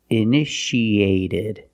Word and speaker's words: initiated: in the past initiated the second T is between vowels so we pronounce it like a fast D it added initiated initiated it means started